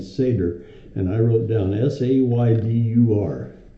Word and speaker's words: Seder: So the Passover Seder, and that's the proper way to pronounce that word.